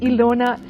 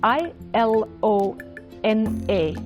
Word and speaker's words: Ilona: channel my name is ilona it's spelled i l o n a ilona s like